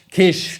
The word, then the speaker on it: Kiss: How do I pronounce? Kish.